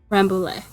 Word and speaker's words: Rambouillet: long-ish staple compared to, I've heard Rambouillet. Yeah. It's French, if I remember, which is why my pronunciation is weird, because I know, like, almost no French. Parlez-vous français? That's about it. Although I don't think they really roll their R's.